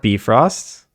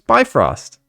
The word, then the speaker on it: Bifrost: pronouncing soft deage correctly it's not be frost it's bifrost actually no the person who